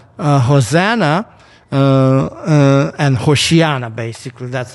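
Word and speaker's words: הושיעה נא: So the people who are putting these branches on the road and saying Hosanna and Hoshiana, basically. That's how you pronounce it. Say Hoshiana, Hoshiana.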